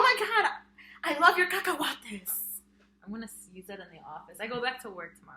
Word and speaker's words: cacahuate: So I'm going to teach you my personal favorite Spanish word is cacahuate.